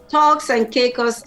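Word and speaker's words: Turks and Caicos: to which was the cake how do you pronounce that island because i have to go check it now i've never heard yeah talks and caicos island talks and caicos island okay i will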